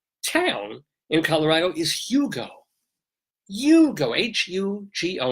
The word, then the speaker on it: Hugo: Hugo, H-U-G-O, not Hugo like those little Yugoslavian cars.